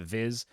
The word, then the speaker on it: VIS: They've got a utility token called VIS. I'm gonna pronounce that Viz, and then a governance token PGX.